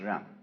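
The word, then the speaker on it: jen: fundamental virtue of a human being is called Jung spelled je n for reasons best known to Chinese scholars I don't know what they are but it's pronounced wrong and it's a character Chinese character that Confucius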